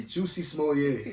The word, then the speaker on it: Jussie Smollett: Jussie Smollett, however you say his name. Hey, it's Juicy Smollett.